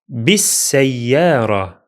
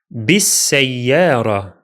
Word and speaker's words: بالسيارة: First, بالسيارة. بالسيارة. The alif and lam are silent here because we are in connected speech and the lam is solar.